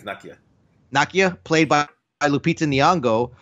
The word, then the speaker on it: Nakia: And apparently his ex-girlfriend Nakia, I don't know how you say it, but I think it's Nakia.